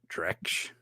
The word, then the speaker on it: Drex: cheesy spy movie, Deacon Drac, I think that's his name. What did you guys, just so I'm saying it right? Drex. I'll say it like that.